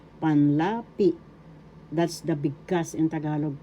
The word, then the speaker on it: Tagalog: That's the big in Tagalog pronunciation. The word tagalog is pronounced excuse me please first syllable ta. Second syllable ga. Third syllable log. Tagalog.